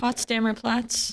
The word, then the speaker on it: Potsdamer Platz: The Platz, I can't pronounce it. Potsdamer Platz.